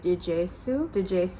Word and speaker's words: DGSE: the CIA, the DGSE, or as they pronounce it through the show, it's like DGSU.